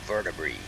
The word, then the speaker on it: vertebrae: That means the word is plural, and you pronounce an AE ending like a long E. There are hundreds of words like that. So vertebrae, And the last word